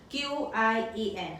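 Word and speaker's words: qián: Untuk Q kita perlu sebut dengan banyak hembusan angin, qi. Dan untuk ejaan yen di sini kita perlu sebut Y-E-N, yen, qian. Nada dia menaik.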